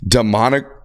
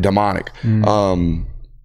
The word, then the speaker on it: Damonic: Dominic. I think it's spelled Damonic. Damonic. That's why I read it, Demonic. One more time on that one. Dominic. But it's spelled Damonic. Real weird.